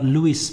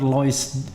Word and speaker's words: Lois: soal dokter Lois ya rekan saya bilang dokter Louis bacanya saya ikutin Louis saja karena saya punya teman juga Andri Kalimantan tulisannya begini noisenya jangan-jangan Ah noisenya ini bukan dari bahasa Prancis Louis tetapi bener-bener Lois khas Kalimantan Brangkal ya Kalimantan Barat Kalimantan